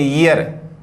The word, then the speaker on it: year: जैसे एक शब्द है YEAR, अपन बोलते हैं ईयर, लेकिन होता क्या है ये। क्यों? क्योंकि जैसे ही आपका आया तो आर आपका क्या हो गया, साइलेंट हो गया। अब कोई दिक्कत नहीं, ये हो गया ये, तो हो गया छोटी, तो ई, और ये हो गया ए, और ये हो गया आर आपका साइलेंट, ईयर।